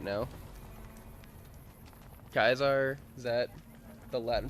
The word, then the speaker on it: Caesar: teaching Latin right now kaar is that the Latin pronunciation and Centurion awe true to kaisar well it's the word Caesar c a e s e r but they pronounce it as kaisar and then the word